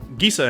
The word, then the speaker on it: Gisa: Gisa and Geralf, or Gisa and Geralf if you pronounce Jif wrong, are the typal commander for this list.